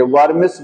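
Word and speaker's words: vermis: वर्मिस बोलते हैं। क्या बोलते हैं उसको? बाय वर्मिस। डब्ल्यू है शायद स्पेलिंग में देख लीजिएगा।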